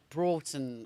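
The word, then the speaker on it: Broughton: Don't tell me it's Brton. It's not Bronton. Beaver. Ben. Beaver. Ben reckons it's beaver. Uh, no. Broton. It's actually Broton. Broton.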